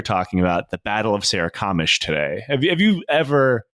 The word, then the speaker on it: Sarikamish: this one before no SAR Sarah kamish that's right see I saw you named this and I was trying to uh you named it Sarah kamish now I know how to pronounce it I was just thinking it was Scaro like uh um scar